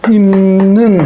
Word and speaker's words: 입는: 비읍이 이번에 니은을 만났어요. 비읍이 니은을 만나서 꽝 부딪혀요. 비음하고 자음하고 파열음하고 구두빵 중에 파열음이죠. 빵 부딪혔어요. 파열음. 그러면 니은이 야, 너 발음하기 너무 힘들어. 비음으로 바꿔. 그럼 발음하기 쉽잖아. 입는 너무 힘들어. 입는 우리 형제 미음으로 해. 그래서 비읍이 미음으로 바뀌는 거죠.